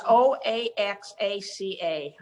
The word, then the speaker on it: Oaxaca: yeah, it's OAXACA. Oaxaca is how you pronounce that.